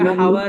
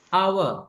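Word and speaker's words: hour: நிறைய பேர் பிள்ளையா ஹவர் என்று ப்ரொனவுன்ஸ் பண்ணுவாங்க. பட் it's completely wrong. It's அவர் and our and our.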